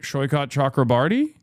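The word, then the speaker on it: Saikat Chakrabarti: Shyot Chakraarti, I am pronouncing his name correctly.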